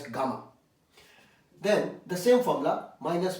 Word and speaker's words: gamma: This time one zero is extra, pronounced as gamma.